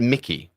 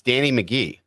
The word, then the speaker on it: McGee: No, you said Mickey. It's Danny McGee.